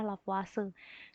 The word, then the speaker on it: Lavoisier: dengan hukum lavase ya ini meskipun tulisannya lavoisier Bacanya adalah lavase Kenapa namanya hukum lava